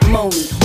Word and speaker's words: Monie: Pronounce it Monie.